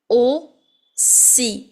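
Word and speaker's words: aussi: more that is I've hear the verb OC o c which means also now oi a lot of people mispronounce this word and they say o z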